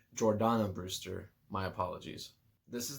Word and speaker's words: Jordana: one paul walker vin diesel michelle rodriguez and jordina brewster which is really cool i think i mispronounced her name jordana brewster my apologies this is the movie that